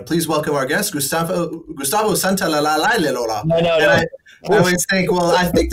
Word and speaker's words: Santaolalla: I always say Santaolalla. Very good. Very, very close. Very, very close. The diphthong you have to do, Santaolalla.